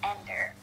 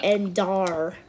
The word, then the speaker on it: Endar: It's not Ender. Oh, Endar. Yeah, Endar. It says it clearly is supposed to be pronounced Endar.